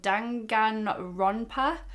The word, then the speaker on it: Danganronpa: And just started playing this game called, I'm going to try and pronounce it, Danganronpa.